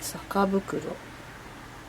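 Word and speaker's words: 酒袋: したが、酒袋、酒の袋と書いて酒袋、ガスを絞った袋だと思います。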